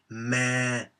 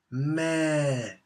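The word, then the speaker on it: แม่: syllable a falling tone so it is not meh but it's me meh meh falling tone and translation would be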